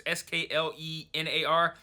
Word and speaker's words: Sklenar: I'm not sure how to pronounce his last name. It's Sklenar.